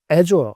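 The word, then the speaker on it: Azure: 근데 클라우드 데이터 센터 걔네는 상품을 AF Dura 에조 발음 하는데 에조의 성장률이 무려 35%가 됐어요.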